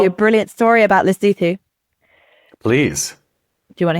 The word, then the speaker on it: Lesotho: want to go to lzo l leoo l s o t h don't know if it's a country or a city don't say it like that don't say it like that lutu is a very small landlocked